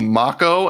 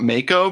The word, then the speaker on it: Mako: probably doesn't did you know that it's called Mach oh and not Mako because people were losing their